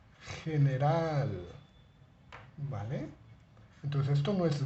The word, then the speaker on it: general: esto es gato pero esto es general no general general gimnasio goma gusano ga